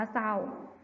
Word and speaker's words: เศร้า: เดียว กัน นะ คะ ใน คำ ว่า เศร้า ก็ จะ อ่าน ออก เสียง นะ คะ พยัญชนะ ตัว หน้า เหมือน กัน ค่ะ ต่อ ไป นะ คะ